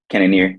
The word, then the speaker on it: Cannonier: Cannonier, yep.